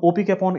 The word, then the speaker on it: opicapone: and so is this wrong so like anti-coupon opi capone is also a comp inhibitor and this dog